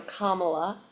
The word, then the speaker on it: Kamala: One, because I wanted to remember the pronunciation, like to be calm, so Kamala.